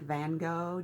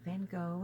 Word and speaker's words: Gogh: To Boldly Go, and Go is spelled like Van Gogh, Goghh, yes, Yes.